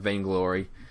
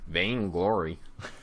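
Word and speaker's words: Vainglory: the the big thing they start off with vain glory and then they'll like build their way up vain glory and uh how is how do you spell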